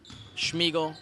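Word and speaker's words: Szmigiel: They're going to call that one Schmiegel. We're not making fun of someone's name who's Siegel. It's like actually Schmiegel. It's spelled S-Z-M-I-G-I-E-L.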